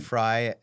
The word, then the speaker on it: Frey: mess up everybody awful everybody calls us Fray because that's the way you grammatically pronounce it yeah and he's like it's fry and I'm like I'll